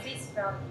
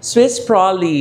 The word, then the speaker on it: Swiss Prolly: May product din si ano Miss Julia na bago itong ano Swiss Prolly. Tama ba pronunciation ko? Yes po. Swiss Proly. Swiss Prolly.